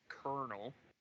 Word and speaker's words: colonel: the thing is that Colonel is based on taking the spelling of the word from I believe Italian and the pronunciation from French you can trust me